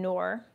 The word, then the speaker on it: Noor: And what's interesting is I just interviewed a gentleman named Noor, pronounced like Moore, but with an N as in Nancy.